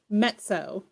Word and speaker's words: Mezzo: Yeah, for those who actually don't know, it's mezzo. The way it's pronounced. Because it's Italian from mezzo soprano, because I sing opera.